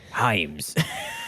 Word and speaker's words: Hames: I- It is pronounced Himes.